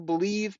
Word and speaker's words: Bleav: podcast it's on the believe podcasting Network it's with Lion's legendary safety Benny blades you got to check it out it's called blav they pronounced that believe in Lions on the